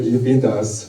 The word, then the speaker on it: InfinitUs: It's for me, I always pronounce it infinitus.